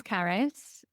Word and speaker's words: Carys: So, my name is Caris. Uh, I always say it rhymes with Paris.